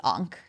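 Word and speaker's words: ankh: A n k h is onk.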